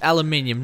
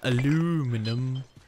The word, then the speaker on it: aluminium: torch it's actually a flashlight come on people pronouncing different I mean like it's aluminium not aluminum all right so we're heading towards um the